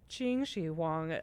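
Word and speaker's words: Qin Shi Huang: So, uh, I remember profoundly one of my biggest laugh out loud moments was when, how do you say the first emperor's name? Is it Quinn Xi? Uh, Chingi Wang.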